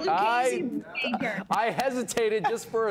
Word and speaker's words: Lucchese: We're founded in Italy, so that's the heritage behind our name.